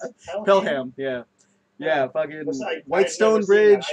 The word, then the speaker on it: Pelham: Is that how you pronounce it? Pelham, yeah.